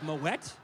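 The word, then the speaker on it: Moët: h d a bottle of moette which I learned is how that's pronounced and a $450 bottle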